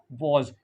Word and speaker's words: was: पढ़ाया जाता है डब्लू ए एस वाज क्या वज यानी शॉर्ट ओ और लेकिन यहां पर क्या